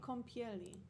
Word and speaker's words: kąpieli: No, this is wrong. Bath toy. Kąpieli. Kom? Kąpieli. Spell it. K, that own thing. E? No, that A with the squiggle. Yeah. Kąpieli. P-I-E-L-I.